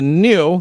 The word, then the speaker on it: GNU: The next one is called the new, that's how you pronounce it, electric kids. It's not GNU. No, so it's not GNU. It's actually pronounced GNU.